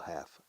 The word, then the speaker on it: half: However, the second half, fíjate, la segunda mitad del contrato, half tiene una L muda. Fíjate cómo digo half. No digo half. Half. No pronunciamos la L.